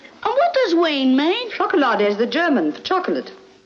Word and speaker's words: Chocolade: You saw where it's spelled chocolate? C-H-O-K-O-L-A-D-E. And what does ween mean? Chocolade is the German for chocolate.